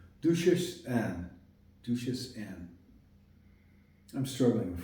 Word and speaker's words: Duchesse Anne: Duchesse Anne. Duchesse. That's how it's said in French. Duchesse Anne.